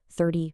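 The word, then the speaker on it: thirty: But over on the right side, the tens, 30, 40, 50, the stress is at the beginning, ending with this short i sound.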